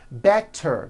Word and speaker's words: better: Better becomes better. She's feeling better.